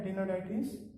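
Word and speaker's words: Aptenodytes: Then there is a Cetacula, here P is silent, this is for parrot. Struthio is for ostrich. Then pavo, peacock. Then Atenoditis, ये P silent है, Atenoditis penguin है.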